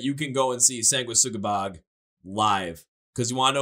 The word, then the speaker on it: Sanguisugabogg: I gotta make sure I pronounce the name right. Sanguisugabogg.